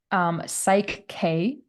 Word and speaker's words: Psych-K: Psych K, and that's spelled PSYCH-K. Psych K, like psychological.